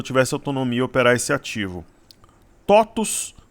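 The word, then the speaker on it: TOTVS: autonomia operar esse ativo totos n que se escreve toes mas se lê totos é um bom ativo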